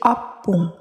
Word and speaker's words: ompung: Yang kedua adalah ompung dan jika dikatakan menjadi opung yang berarti nenek.